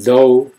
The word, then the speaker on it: though: an ew do and though last two have silent GH